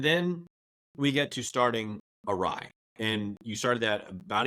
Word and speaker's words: Awry: Although people read it Ari all the time, and I guess I think people are going to mispronounce the name.